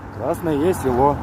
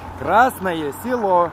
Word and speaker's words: Красное село: Как скажи Krasnoe Selo правильно. Красное село. Какой? Красное село. Красное. Красное село. Красное. Красное село. Красное село. Красное. А быстро? Красное село. Как Красное село? Красное село.